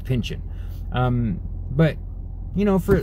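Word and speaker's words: Pynchon: because and i mean i always say his name like it's uh like it's french but it's not they just call him pension you know like p n y c h o n and i always want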